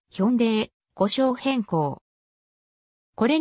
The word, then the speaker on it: 현대: されている韓国語ではヒョンデと発音するが社名およびブランド名の英字表記はヒュンダイとされているかつての日本で